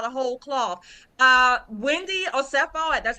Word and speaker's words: Osefo: Uh, Wendy Oo, that's how you pronounce her name.